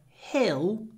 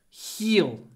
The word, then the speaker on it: hill: the center of town don't say heel H he you need to open your mouth put your tongue behind your bottom teeth Hill hell if your mouth is closed heal he he no hell Hill there is a hill